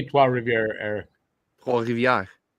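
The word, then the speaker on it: Trois-Rivières: Trois Rivières. You put the French accent to it.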